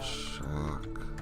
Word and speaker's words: chock: it could just be how you're pronouncing it, because it is spelled C-H-O-C-K, Yeah. not C-H-U. C-H-U would be chuck full of nuts.